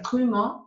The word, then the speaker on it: trumeau: Y aquí está, justamente, hablando del trumeau, se pronuncia trumeau y así se escribe.